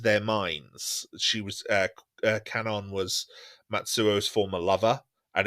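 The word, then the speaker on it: Kwannon: n o n but it's a Japanese name so I think is pronounced Canon Canon quanan is how I've I've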